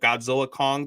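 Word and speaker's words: Godzilla x Kong: And then Godzilla, I guess it's now called Godzilla Kong, the New Empire, the X is silent.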